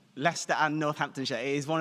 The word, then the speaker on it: Leicester: that tricks everybody up so I want you to imagine in your mind that you are pronouncing University Hospitals of leester very good leester and northamptonshire it is